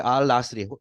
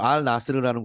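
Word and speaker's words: Al Nassr: 자, 크리스티아노 호날두의 알 나스리, 호날두는 알 나스르라는 곳이죠. 나스르라고 발음하는 컨트랙트.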